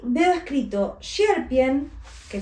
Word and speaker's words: Sierpień: Y veo escrito Sierpień, que fíjate que tiene una tilde en la N, se pronuncia como una ñ, Sierpień, es difícil.